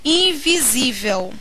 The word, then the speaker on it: invisível: É diferente do que acontece no termo invisível. A palavra invisível pode ser assim separada. Qual é a sílaba tônica de invisível? Invisível. Isso aqui é uma paroxítona.